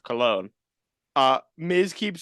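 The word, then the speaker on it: Colón: Caro from Puerto Rico their name is pronounced cologne uh Miz keeps saying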